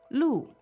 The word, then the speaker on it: 路: Now, the last syllable is, 路 L-U, fourth tone. all right, 4th tone, and that means road, right?